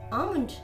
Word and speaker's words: almond: L is not pronounced in these words. Talk, cough, calm, chalk, walk, almond, fork, half, and palm.